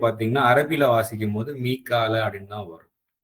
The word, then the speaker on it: மீக்கால: இல்ல யாவா இது என்னன்னு எடுத்துக்கிட்டாலும் சரி இது வந்து உச்சரிப்பு பார்த்தீங்கன்னா அரபில வாசிக்கும் போது மீக்கால அப்படின்னு தான் வரும் சோ மீக்காலன்னு சொல்லி நம்ம போட்டாச்சு